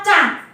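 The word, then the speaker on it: ꦕꦁ: Cang. Co ditambah eng dibacanya cang, ya.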